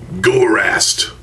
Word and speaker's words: Gorast: course the female makuda gorast I pronounce it as gorast because Gore and ass I don't know um